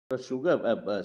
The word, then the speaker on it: sugar: Volume 5 page 80 sugar somebody told George bad show that do you know sugar is the only word in English where s is pronounced as sh in his answer was